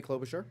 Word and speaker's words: Klobuchar: today there were as questioning by help me pronounce her name clove char Amy Klobuchar okay who was a vice presidential her name